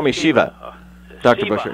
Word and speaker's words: Shiva: You can just call me Shiva. Dr. Shiva. Busher, How yeah. do you spell that?